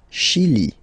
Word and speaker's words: Chili: Le Chili. Le Chili. Okay, remember, C-H, sh.